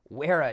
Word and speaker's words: Wera: off strong the where i think it's weara i have never looked it up i'm pretty sure it's pronounced wera the weara joker so